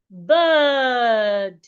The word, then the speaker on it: bird: Because of the R after the I, that should tell you that this is another long vowel, bird.